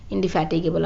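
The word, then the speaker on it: indefatigable: ठीक है, इंडिफैटिगेबल आप बोल सकते हैं इसे। ठीक है, इसका एक्चुअल प्रोनाउंसिएशन क्या हो जाएगा, इंडिफैटिगेबल।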